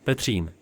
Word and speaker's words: Petřín: The bottom station is called Újezd, from which the funicular climbs 510 length meters to the hill station called Petřín. Correct pronunciation is Petřín.